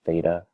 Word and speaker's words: theta: this symbol right here that you see that's pronounced theta let me write the word out just to